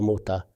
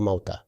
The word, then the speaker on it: Muta: Some people expressed gratitude because they learned for the first time that it is actually Ghazwa Muta, not Ghazwa Mu'tah. They had been reading it for years, but reading it incorrectly.